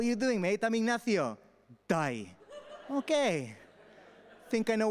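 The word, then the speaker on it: Dai: an abbreviation of david it gets turned into die alright d-a-i pronounced die all right that's a nickname they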